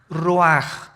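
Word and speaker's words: רוּחַ: El ruaj que se escribe r u a c h. Ruach en el hebreo y se pronuncia igual roaj.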